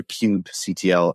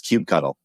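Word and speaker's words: kubectl: how do you say I say Cube CTL and I don't think people like that that's not right it's Cube cuddle it's Cube cuddle is the right answer I think Cube control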